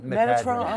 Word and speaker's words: Metatron: Metadrin? Metatron. Metatron, oh my goodness. Mostly known as Metatron, Tommy, okay. but you do pronounce it differently Metadrin.